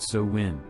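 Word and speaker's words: Samhain: new year in a festival called Salin pronounced so when people also believe they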